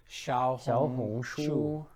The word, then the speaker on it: Xiaohongshu: Hansen speaks Mandarin, so he said Xiaohongshu, which means little red book.